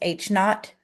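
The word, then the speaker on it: H₀: of this this right here H subz is pronounced H not anytime you have something Subzero it's h notot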